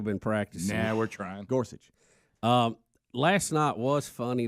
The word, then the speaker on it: Gorsuch: practicing now we're trying gorsuch um last night was funny though i i know just gotta learn go it's gore and such but you guys you rush gorsuch so it sounds like